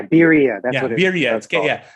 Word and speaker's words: birria: Like, I've been trying really hard to find Barrio. Yeah. Am I saying it right? That's the tacos that you dunk. Oh no, a quesabirria. Yeah, birria.